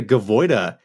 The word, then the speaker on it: Gaviota: We talked about this briefly, but it's got the same elements that the Gavoida has. I forget what it's called. Gaviota. It's like an H. Yeah, sorry, I can't pronounce that.